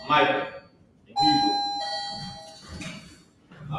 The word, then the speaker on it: Micah: Now, with that being said, that's how you pronounce Micah in Hebrew. Micah. Micah.